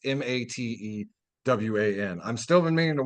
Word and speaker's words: Matewan: Just to interrupt real quick, James Earl Jones once starred in a very like pro-union movie called Matewan, not spelled like down Michigan. It's Matewan.